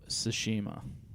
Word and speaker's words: Tsushima: Ghosts of Tsushima. You nailed it. Oh, really? Yeah. What do you think it was going to be? Oh, I have no idea. I was just Tsushima?